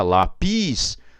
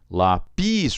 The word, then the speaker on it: lápis: Então fica lápis. Lápis. O pis é mais forte. Não é assim que a gente pronuncia na língua portuguesa. É lápis. O A é mais forte do que o I.